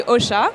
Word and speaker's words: Ausha: Uh I don't know if you know OSHA uh maybe from name uh people really don't know how to pronounce it so you can say OSHA it's the combination of